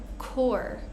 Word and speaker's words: corps: Next, with silent P's, we have quite a few words here. We have words like corps, as in the Marine Corps, the Peace Corps.